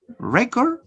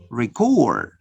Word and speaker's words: record: Notice, if you change the stress, the syllable which is stress, you can change the type of word. Survey, survey. Notice, record, record. Notice, record is the verb. Record is the noun. Notice here, how could you change the type of word just by changing the stress pattern from first to second syllable.